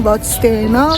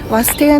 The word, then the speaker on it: Vadstena: کم سخت تلفظ میشه ما اولش میگفتیم باد ستنا ولی خب یست فهمیدیم سایلنت واسط گفته میشه خیلی خوشگله کلی جای